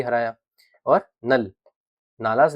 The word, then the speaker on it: नल: और नल, नालास लिखा है, नल होता है इसका मतलब, प्रोनाउंसिएशन नल कहा जाएगा।